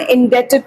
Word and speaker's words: indebted: Indebted में B silent होता है, जितने लोग कॉमर्स लेंगे डेट वर्ड बार बार आएगा, तो इसको डेब्ट नहीं बोलते, इसको डेट बोलते हैं, ठीक।